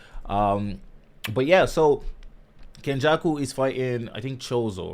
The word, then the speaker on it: Kenjaku: that person you know what I mean so Ken Jackal sorry I gotta get these pronunciations right um but yeah so kenjaku is fighting I think chozo right chozo the